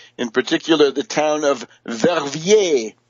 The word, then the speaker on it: Verviers: Netherlands, and Belgium, in particular the town of Verviers, Verviers. Verviers.